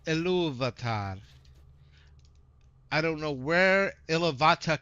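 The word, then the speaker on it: Ilúvatar: It's Iluvatar. I don't know where Iluvatar came from, but the R is pronounced in that. Iluvatar. It's a short R though when you're speaking Quenya based versus Sindarin.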